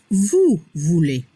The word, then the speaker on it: vous voulez: La pronunciación vous voulez. EZ se pronuncia como la E.